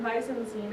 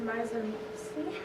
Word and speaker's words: mise en scène: Well, actually it's not mise en scene, it's pronounced mise en scene, and it's encompassed the most recognizable attributes of a film.